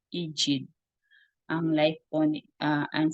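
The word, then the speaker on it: Egede: ni Hans EG Actually nung eged hindi pala ganon yung pronunciation niya ID ang life po ni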